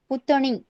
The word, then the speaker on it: पुतणी: कैसे प्रोनाउंस करना है? PUTANI, पुतणी.